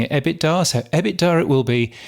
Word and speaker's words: EBITDA: I always thought it was pronounced EBITDA, but Ross Adams ended up pronouncing it EBITDA.